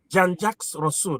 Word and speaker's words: Jean-Jacques Rousseau: That's why the likes of Jean-Jacques Rousseau, that's the way we pronounce it in Europe, maybe you can say James Rousseau.